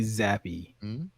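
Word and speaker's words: Zappe: I refuse to pronounce it Zappy. I'm going to say Zapp.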